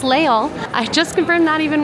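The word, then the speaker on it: Les Halles: It is pronounced leol. I just confirmed that even with a French cast member. So, Leal Leol.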